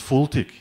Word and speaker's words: FLTK: what what is actually fltk ethel take care or pronounce fulltick is as fast light